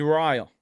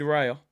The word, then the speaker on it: Raya: who's in the community that is David rile David Raya not David rail I think I was calling him David rail he said it's David rile so I'm gonna try